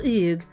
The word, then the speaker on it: Hugues: Yeah, like French people pronounce it as oog.